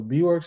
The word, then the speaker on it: Beewirks: before went by like is it b works i'm guessing that's how you pronounce it i was producing under that name so b works is what i started